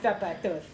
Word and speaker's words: zapatos: They pronounce their Z's with a TH. Get your zapatos.